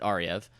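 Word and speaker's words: Ariew: david aryev yes it's a v but you pronounce it ariev he is creating a class with school of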